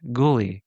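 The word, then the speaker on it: Goolie: years have I ever heard of a Pontiac Ghouly. They reiterate it's pronounced ghouly.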